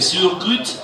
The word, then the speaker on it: choucroute: Alors la choucroute chez nous, prononcée Surgrut, que l'on déguste le dimanche en famille dans toute l'Alsace, la meilleure est la choucroute nouvelle, à partir de septembre.